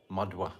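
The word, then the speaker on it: Madhva: So today the celebration of the tiab of Madawa Achara Madwa Madwa we say with a W Mada Acharia and he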